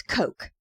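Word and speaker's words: Koch: Bathurst is traveling as a merchant and his name is Coke. He's undercover. Undercover as Coke. Okay. Spelled K O C H. Yes. But pronounced like the drink.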